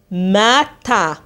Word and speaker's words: matin: le matin الصبح، ال تنطق le matin، نفصصها اما تنطق ما، ت اي ان في نهاية كلمة تنطق ان.